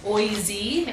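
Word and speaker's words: OISE: So yes, the Ontario Institute for Studies in Education, OIZ is how we pronounce it for short.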